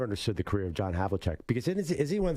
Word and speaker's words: Havlicek: The way it's spelled Havlicek, it should be Havlicek.